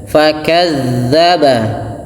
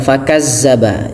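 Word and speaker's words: فَكَذَّبَ: Kemudian fakadzdzaba fakadza, jangan lupa makhraj huruf dzal, ujung lidah menempel dinya, bukan fakazzaba, jangan dibaca fakazzaba.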